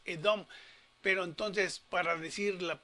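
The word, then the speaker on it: אדום: Si la Aleph, que es muda, esta es la Hatef Segol, media vocal, la media Segol, pero sigue siendo vocal que se pronuncia. Entonces dice esta es la Dalet, esta es la O larga, Holenbab, y es la Menfimia, que es Edom.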